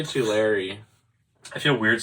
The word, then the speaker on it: Tulare: We're not signed up for Tulare?